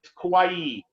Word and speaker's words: Kauai: moved to kauai and it's kauai so pretty easy like hawaii kawaii kauai and